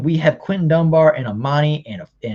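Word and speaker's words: Amani: have quentin dunbar and armani is technically how you're properly supposed to pronounce it and uh mike ford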